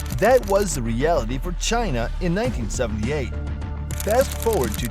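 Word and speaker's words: Qin: the Chinese word Chen it is spelled q i n but it is pronounced as Chin Chin was the name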